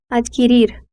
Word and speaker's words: adquirir: Brasileiros tendem a inserir a vogal i, formando uma sílaba de, mas no espanhol essa inserção vocálica não ocorre. soaria algo como adquirir.